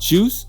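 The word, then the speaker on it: 7uice: pronounce this man juice it's just pronounced juice why not spell it that way then man that stylization ridiculous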